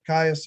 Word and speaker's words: Gaius: Gaius Julius Caesar, or probably pronounced more like Caius Julius Caesar.